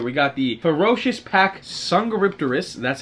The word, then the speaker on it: Dsungaripterus: of creatures here we got the ferocious pack sanga ripterus that's how you pronounce it i just googled it like six